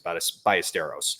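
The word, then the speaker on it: Ballesteros: Cubs Twitter which is Moises by a esteros uh again we're hoping that we pronounce that properly but I believe that is the proper proun pronunciation look this guy's been very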